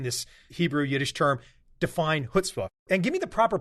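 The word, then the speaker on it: chutzpah: said it right yeah there's a little bite to it at the beginning reminds the build of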